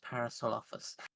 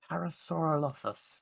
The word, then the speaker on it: Parasaurolophus: Everyone loves Parasaurolophus.